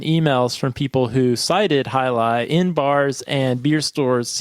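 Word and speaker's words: Jai Alai: really enjoyed that one it looks like J but it's pronounced highi yeah and that was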